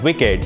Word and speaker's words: WICED: connectivity for embedded devices spelled w-i-c-e-d and pronounced as wicked is broadcom solution to